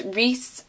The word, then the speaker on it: Rhys: you did because you cannot read apparently its Rhys Rhys and Rhys and I didn't like that